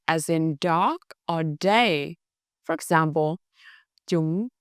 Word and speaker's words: da: The word da, skin, is pronounced da.